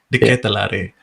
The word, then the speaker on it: Charles De Ketelaere: Charles De Ketelaere. Ya, jadi bacanya gitu ya guys, De Ketelaere.